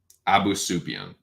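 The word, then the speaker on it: Abusupiyan: Abus, how do you pronounce it? Abus Yasupian. Abu Sufyan. Abu Sufyan. That's what it is.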